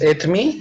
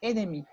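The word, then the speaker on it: et demie: Ah, le et me, comme je te dis dans la classe, c'est la prononciation rapide. Et me. Et me. Il est 2h30. Et me. Et me, OK? Et la prononciation lentement, quand tu prononces lentement, c'est il est 2h30. Et demi.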